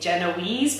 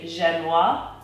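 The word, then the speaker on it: génoise: that spoke before of people think Genoese because that's how it's spelt is actually genoise and and it's a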